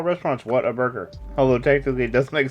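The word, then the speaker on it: Whataburger: all the time down here because we have water burgers down here they're all like but it's what a burger no it's what a burger water burger not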